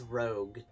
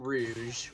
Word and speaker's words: Rouge: specifically a lot but he says Rogue not Rouge Rogue and I keep telling him it's not Rogue it's Rouge and he goes yes but it's spelled like Rogue yeah but they're the